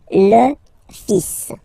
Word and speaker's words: fils: So it's le, and then even if you get this L, well, basically you don't pronounce it, and then strangely you pronounce the final S. Le fils.